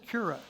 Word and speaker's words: Qura: and founder of quaza we pronounced it yura yura as with a cue okay the cue instead of a stick I missed that but